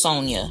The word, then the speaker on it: Sonya: Doctor, your name is pronounced Sonya, right?